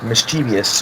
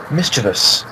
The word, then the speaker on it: mischievous: I don't know if any of y'all saw, but on last Wednesday's episode, Jordan had to correct Jeff on the pronunciation of the word mischievous, which Jeff pronounced mischievous. I think if Jordan has